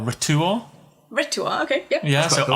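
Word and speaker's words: R'tuar: Ritua, okay, yep. Yeah, so cool. R apostrophe T-U-A-R. Yeah. I am Ritua.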